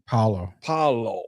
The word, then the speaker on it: Paolo: Paolo.